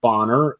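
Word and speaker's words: Bonner: as a third baseman and Bob it is pronounced boner as the short stop and uh you know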